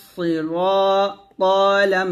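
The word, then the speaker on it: الصِّرَاطَ: হবে ইহ দিদি নাস সদে জের সুই সি হবে না সি এর মত হবে না সদ মোটা করে হবে সি ইহদিনাস র আলিফ জবর র মোটা হবে ইহদিনাস সিরা ত লাম জবর তল ইহদিনাস সিরাতল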